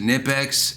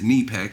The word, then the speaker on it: Knipex: how I pronounce it so you can pronounce it nip X and they say the actual way to pronounce it in German is knee Peck so we're both wrong but let's get to